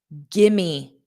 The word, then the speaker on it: give me: Gimme. Gimme. So give me combined sounds like gimme.